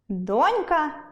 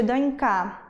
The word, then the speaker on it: донька: дОнька чи донькА? так, буде дОнька чИтання або читАння?